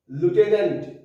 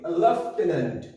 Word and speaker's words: lieutenant: স্পেলিংটা LIEUTENANT, উচ্চারণটা লিউটেন্যান্ট, লিউটেন্যান্ট। আমরা এই ওয়ার্ডের উচ্চারণ করে থাকি লেফটেন্যান্ট। এই ওয়ার্ডটার স্পেলিং LIEUTENANT, উচ্চারণটা লিউটেন্যান্ট, বলি আমরা লেফটেন্যান্ট।